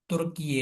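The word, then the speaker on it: Türkiye: और ये very very important MCQ है कि कौन सा मुस्लिम कंट्री है जो नेटो का मेंबर है, वो है तुर्की है। तुर्की पहले बोला जाता, अभी इसको तुर्की ये बोला जाता है।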